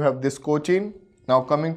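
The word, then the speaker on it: Kochi: Kandla and कोची here the कोचिन spelling is सीओ सी एच आई एन but this is कोची so between two के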